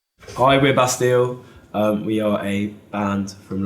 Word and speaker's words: Bastille: Yeah, we in our terrible English accents we say Bastille, even though it's clearly Bastille in French.